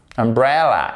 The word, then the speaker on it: umbrella: Umbrella. Il a pris son parapluie. Umbrella. Accent tonique ici. Le B, le R, le I et le L, ok? Umbrella. He took his umbrella.